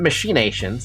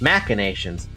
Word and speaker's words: machinations: It's not machinations, it's machinations.